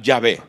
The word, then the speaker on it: Yahvé: pronunciarlo y salió yahvé se escribe Jehová y se pronuncia yahvé por eso en Biblias